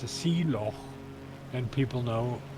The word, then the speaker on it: loch: And the Scottish people really pronounce the CH properly. They say loch. Now, English people can't say that. So what they normally say is loch.